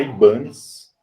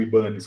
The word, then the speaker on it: Ibanez: Olha, o pessoal costuma falar Ibanez, porque a marca hoje é japonesa, mas se eu não me engano, a origem do nome é espanhol, e um japonês comprou